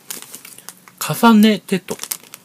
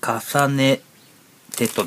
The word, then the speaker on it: 重音テト: 音はねって読みますよね。初音ミクも、鏡音リン。鏡音蓮もですん